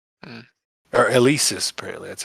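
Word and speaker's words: Eleasis: Eliasis. Hmm. Or Elisis, apparently. That's how it's pronounced.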